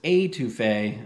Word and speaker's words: étouffée: All right, let's get into this étouffée. I had to look up the correct pronunciation.